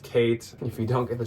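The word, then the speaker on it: Khaite: co co a CO it's k h a i t e it is pronounced Kate if you don't get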